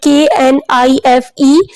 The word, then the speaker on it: knife: ये देखिए हमारा first word KNIFE. It is knife. K is silent here.